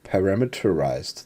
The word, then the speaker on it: parameterized: Par param how do you say this parameterized parameterized there we go function okay so we Define